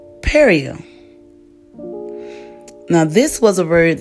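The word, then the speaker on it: perejil: know Spanish form and this Spanish form was pronounced perio now this was a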